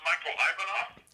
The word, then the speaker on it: Michael Ivanov: Is it pronounced Michael Ivanov?